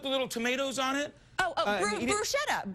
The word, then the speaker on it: bruschetta: Bruschetta. Bruschetta. That's what I've always said, bruschetta.